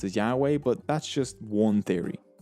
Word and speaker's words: Yahweh: is the letters yhwh the actual pronunciation of yhwh was lost thousands of years ago today it is sometimes pronounced as yahweh but that's just one